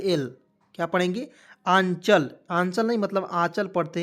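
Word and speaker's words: Anchal: सी एच ए से होता है दोस्तों च, और एल से लिखेंगे ल, तो ए एन सी एच ए एल, क्या पढ़ेंगे, आंचल।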